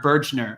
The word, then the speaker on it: Bergner: to start with noella bergner here or bergner i didn't even realize that's how you pronounce her last name and so she